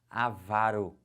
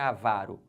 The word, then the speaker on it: avaro: a pronúncia correta agora gravem agora comigo a pronúncia dessas paroxítonas já vão marcando assim ela vai aqui como é que fala isso avaro que que é avaro a vara pão duro